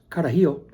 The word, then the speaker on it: carajillo: two ingredient caragillo or in the native tongue I'm sure it's pronounced carahill so the two ingredient